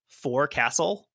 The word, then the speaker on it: forecastle: like a fighting castle, I am tempted to pronounce it forecastle because this is still what it is, but you could just go with forecastle because otherwise people will complain.